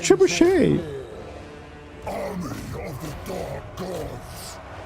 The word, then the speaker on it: trebuchet: Ah yes, a tree bucket. It's pronounced trebuchet.